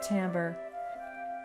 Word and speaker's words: timbre: is an interesting word it looks like the word Timber but it's pronounced Timbre Timbre is the characteristic